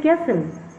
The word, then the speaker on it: castle: Yes, it's a castle. Pronounce the word after me. It's castle. Here, look, he is silent.